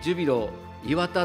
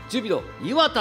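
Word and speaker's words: ジュビロ磐田: て発音が違うジュビロ磐田って言ってくれって言われて直した記憶があります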